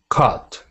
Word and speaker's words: caught: Same with this word. Caught. Caught. It's just caught.